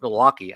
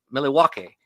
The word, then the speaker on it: Milwaukee: But we do not pronounce Milwaukee, and actually it's pronounced Milwaukee, which is Algonquin for the good land.